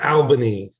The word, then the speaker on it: Albany: Joe pronounce it uh Albany Al as in my friend Al yeah do you correct